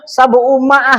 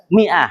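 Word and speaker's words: مائة: Jadi bacanya tetap mi. Jangan, wah ini salah nih harusnya sabu umaah enggak. Mi'ah, tetap mi'ah.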